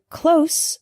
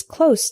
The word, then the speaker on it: close: common examples the word closed with an S sound means near not far for example my house is close to the bus station